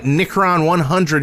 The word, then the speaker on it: Nickron100: We got Nickron100 who says, It's pronounced Nick Ron 100.